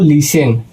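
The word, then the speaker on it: listen: इसका दूसरा नियम है दोस्तों कि जब एस के बाद टी आए तो टी साइलेंट रहता है।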